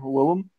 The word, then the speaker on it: Willem: didn't know as Willem it's just pronounced um Willem it spelled that way it's like II am isn't it wyl LEM yeah it's actually Willem it's not offended good